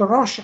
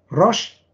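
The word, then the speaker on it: ראש: Der rote Kopf schreibt sich übrigens das wird Rosh ausgesprochen, dann heißt es Kopf. Rosh, Shin ist auch Doppel-S, groß.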